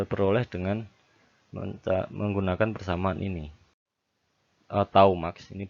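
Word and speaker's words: τ: Tau max, ini bacanya tau, sama dengan T.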